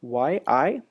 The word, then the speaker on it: Yi: key we will write Yi and now you see something happening here and that is that Yi or e as it's pronounced in Chinese has a lot of